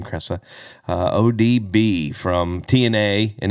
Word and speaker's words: Kresa: have odb or or jessica cressa i think is how you say her last name cressa uh odb from tna